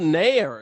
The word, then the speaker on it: Nair: Wouldn't you know it started burning and It's called Nair. It's this new conditioner. Yeah. Well, I thought Nair rhymes with hair, and then you think, Yeah.